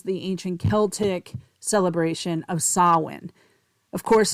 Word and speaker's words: Samhain: But you know what it really comes from is the ancient Celtic celebration of sawin. Of course, it's spelled s a m h a i n pronounced sawin.